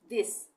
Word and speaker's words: this: यहाँ पे हमने थ पढ़ा, लेकिन कई शब्दों में टी एच का उच्चारण द होता है। जैसे रोज हम पढ़ते हैं ना, दिस, दिस में भी टी एच एक साथ आ रहा है, तो यहाँ पे इसका उच्चारण बदल गया, यहाँ पे हो गया